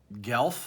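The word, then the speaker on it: Guelph: children he lives in Gelf I think you pronounce that Ontario Canada and he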